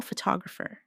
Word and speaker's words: photographer: Photograph. Now, photographer. Notice how the stress changes when the word becomes longer.